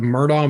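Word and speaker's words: Murdaugh: check that out and it's spelled m-u-r-d-a-u-g-h the murdah murders and i mean it's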